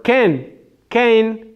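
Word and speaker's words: כן: Or Ken, but Israelis pronounce it ken, but it's spelled Cain with a tzere.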